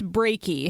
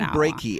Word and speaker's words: Brakey: I believe it's Brakey. His first name is Norman, so maybe we'll just call him Norman. Norman Brakey, as in heartbreaky.